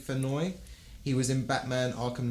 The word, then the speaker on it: Fennoy: think that's pronounced Dave Fennoy.